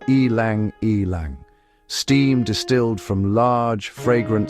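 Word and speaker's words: ylang-ylang: I lang pronounced elang elang.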